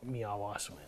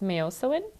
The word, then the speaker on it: miyosiwin: How I pronounce it is Miyosiwin.